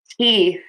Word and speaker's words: teeth: Hold that th. Let that air keep coming out of the mouth. Don't close the mouth so that the air can't come out. Teeth.